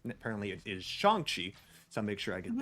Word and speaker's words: Shang-Chi: doing awesome i might be in end up mispronouncing the same it's apparently it is shanxi so make sure i get that correct well